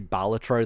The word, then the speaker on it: Balatro: of the mountain I I should say balatro that is the company line that is the way it's supposed to be said um so must be